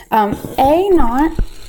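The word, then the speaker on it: A₀: and things like that a not is how we pronounce this it looks like a capital letter a with a subscript of zero this represents some initial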